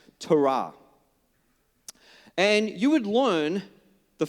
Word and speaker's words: Torah: Some people say Torah, okay? It's actually pronounced Torah.